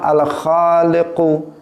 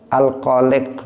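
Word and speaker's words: الخالق: dengan kaidah membaca misalnya seseorang Allah diantara nama Allah Al Kholik Kholik Dia membacanya alkoholik ini saya Kholik pakai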